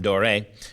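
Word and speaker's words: Doré: as an accent uh perhaps the most proper way of of pronouncing his name would be paul gustav as a european netherlandish name so i want to make sure i've heard him called both and americans tend to call him dorae whether that's appropriate or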